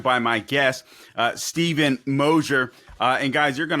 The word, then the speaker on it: Mosher: again I'm joined by my guest uh Stephen moer uh and guys you're going to want to